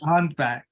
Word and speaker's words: Huntbach: Is it Huntbach? Close enough. Huntbach. Okay, Batch. Okay, third time lucky.